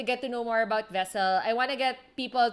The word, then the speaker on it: Vesl: to our youtube channel vessel is spelled v-e-s-l right it's right thank you